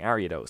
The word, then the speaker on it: Ariados: men to pronounce that I don't know where the emphasis is meant to be but I'm gonna keep saying ariados because that sounds right you can use poisons